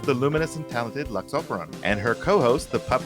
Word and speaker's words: Operon: So Operon has the same Latin root as opera and operator. So however you pronounce those words, it's just oper and then on.